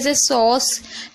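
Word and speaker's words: sauce: हो गया इसी तरीके से सॉस एस को सा पढ़े ए यू को ओ पढ़ और सी को सा पढ़े लास्ट वाले ई को हम पढ़ते नहीं है साइलेंट रहता है इसलिए तो इसे देखिए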